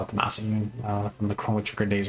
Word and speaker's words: Masamune: Then we got the Masamune. Good hit here. Very nice. So I know it's pronounced Masamune uh properly. Um but I call it the Massamune uh from the Chrome days when I was younger.